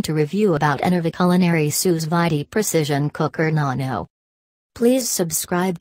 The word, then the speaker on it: sous vide: menu what to cook sous vide pronounced sous-vide cooking offers the perfect